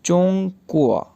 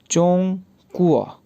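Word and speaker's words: 中国: अब जिस मुल्क की ज़ुबान पढ़ी जा रही है उसको चाइनीज़ में क्या प्रोनाउंस किया जाता है। जी, चोंग कुआ, चोंग कुआ, चोंग कुआ, चोंग कुआ कहा जाता है चाइना को।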